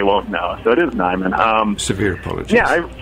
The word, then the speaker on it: Niman: thing I'll need to do is correct correct pronunciation it's actually Nyon okay I'll just whack my hand where n